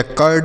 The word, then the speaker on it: curd: उसी तरीके से सी से क हो गया, यू का उच्चारण अ के रूप में, आर से आधा और डी से ड, यह हो गया कर्ड।